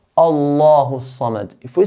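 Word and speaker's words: صمد: Sad here is from the heavy letters. We pronounce sad in a heavy manner. Sa, not sa, but sa. Allahu Samad, Allahu Samad.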